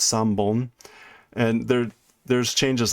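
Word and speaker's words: 三本: For instance, if you have 3 pencils, it's not san hon. San is 3. The hon changes to bon, so it's san bon, and there's changes like that sometimes happen with some of those things.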